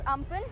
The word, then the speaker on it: Amphan: cyclone Amphan, which is spelled at AMPHN and pronounced as Amphan, which will be making a landfall tomorrow in the afternoon at around 2 p.m.